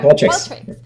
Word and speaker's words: Qualtrics: Yeah, Qualtrics.